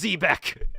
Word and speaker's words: Quebec: as a pet uh it's zebec it's zbeck it's pronounced zebec zebec canada um i really wanted